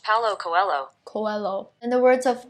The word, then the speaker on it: Paulo Coelho: That's pronounced Paulo Coelho.